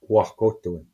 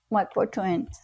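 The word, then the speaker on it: wahkohtowin: So I don't know how to pronounce it, Dwayne, but how do you say, why, the word to say that the connection, Wakotoin. Wakotoin.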